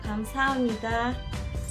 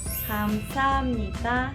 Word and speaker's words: 감사합니다: Para decir gracias sería 감사합니다. 감사합니다. Les voy a explicar la pronunciación. La primera sílaba traducida sería G-A-M, es decir, GAM.